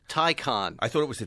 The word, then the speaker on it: Taycan: Taycan. Tie like a tie like you're wearing, and a con like you are as well. Taycan. I thought it was a Taycan.